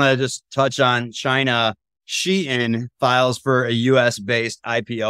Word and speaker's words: Shein: I thought it was called Shine. I actually just Googled it, how to pronounce, so I didn't sound like an idiot. It is pronounced Shein, according to Shein Official's Twitter.